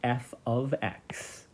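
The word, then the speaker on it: f(x): function and then the function rule is we pronounce this as F ofx this is not multiplication so f of x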